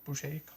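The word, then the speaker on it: Bouchet: prostitute with uh henry silva and barbara boucher boucher pronounced her name but yeah always wanted to see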